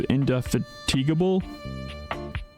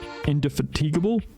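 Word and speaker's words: indefatigable: I mean, to know words such as inde I always thought it was indeigable. But the way he pronounced it was quite different. Indeatigable. That's a hard one to say.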